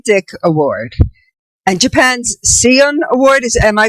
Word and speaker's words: Seiun: Dick Award and Japan's Seiun Award. Am I pronouncing that correct? Seiun Award. Seiun Award.